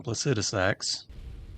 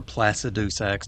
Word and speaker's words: Placidusax: Alright, well, now that I have Maliketh's Black Blade, I decided to take on Placidusax, or Placidusax, depending on your pronunciation.